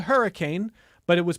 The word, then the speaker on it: Hurricane: We had a split newsroom, and the town that I lived in, listeners, was spelled hurricane, but it was pronounced with roughly 1.5 syllables, Herkin.